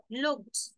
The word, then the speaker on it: looked: There's only one vowel sound, which is O sound. Can you hear any other vowel sound when you say looked?